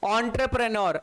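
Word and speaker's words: entrepreneur: फिर आ रहा है एंटरप्रेन्योर, ऑन्टरप्रेन्योर, ऑन्टरप्रेन्योर, ऑन्टरप्रेन्योर का मतलब क्या होता है, ऑन्टरप्रेन्योर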